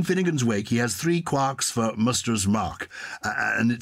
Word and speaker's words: quark: the allusion to three quarks seemed perfect i needed an excuse for retaining the pronunciation quark despite the occurrence of mark bark mark and so forth in finnegan's wake i found that excuse